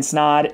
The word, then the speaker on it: Snod: My name is Snod. It rhymes with odd, and we'll see you in the next video.